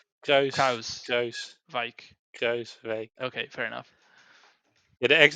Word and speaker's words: Kruijswijk: Kruiswijk. Okay, fair enough. Yeah, actually the J in the Kruis part is redundant.